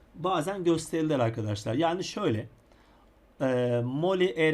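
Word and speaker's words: Molière: şu anlayacaksınız ayracının da ki kelime yine bakıyorum molyer E moller demek ki mor mor mor şeklinde okunuyormuş diye ne yapacağız bileceğiz yerimize koyacağız Arkadaşlar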